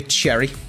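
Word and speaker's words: Cerri: I'm going to give you Cherry. How do you spell that, Andy? C-E-R-R-I-E. Like the cherries, Bateson, like Bournemouth.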